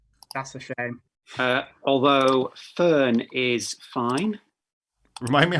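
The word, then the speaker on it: Föhn: shockingly no weave that's a shame uh although fern is fine remind me how you spell it again f f o e h n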